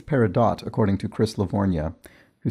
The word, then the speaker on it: peridot: and i think it's peridot according to chris livornia who says where dot rhymes with hot although duke garland says